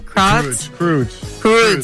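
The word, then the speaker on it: Croods: Crods.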